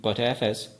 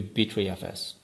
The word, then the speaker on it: Btrfs: for b3 file system i have seen people pronouncing it in different ways so i'm calling it butterfs better file system or bitry file system i usually stick to b3fs bqfs is a general